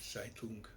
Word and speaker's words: Zeitung: Vous savez que dans beaucoup de langues, notamment en allemand, le Z se prononce Tz. Herzl, Herz. Zeitschrift, Zeitung.